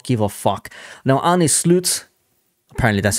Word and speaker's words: Arne Slot: Now, Arne Slot, apparently that's how you pronounce his name, looks likely like he's going to be the next manager.